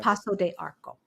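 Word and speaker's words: Paço de Arcos: sorry one more time now why is one a soft C oh she didn't put the thingy underneath it that's why okay Paso de Arco but this is oh there's a oh there's an S at the end yeah okay uh in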